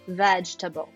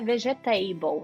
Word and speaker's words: vegetable: Você acabou de aprender uma pronúncia, vamos falar vegetable, não é vegetable, não tem table, não tem mesa dentro do legume, tá bom? Dentro do vegetal. Então a gente vai falar vegetable.